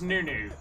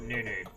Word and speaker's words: Nunu: a brewery in denan called Nunu or well pronounced nunno but it was new new not Noo-noo as in like HK so uh Noo-noo was